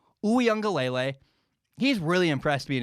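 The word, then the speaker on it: Uiagalelei: haven't heard the name here's how you say it it's dj oo young galele he's really impressed me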